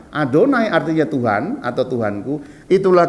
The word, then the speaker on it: Adonai: Jadi tulisannya YHWH, tapi ketika membaca mereka tidak mengucapkannya, langsung mengganti dengan Adonai. Adonai artinya Tuhan atau Tuhanku.